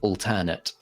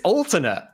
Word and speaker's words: alternate: told me that it's alternate so I was like okay cool it sounds a bit like ultimate but you know I'll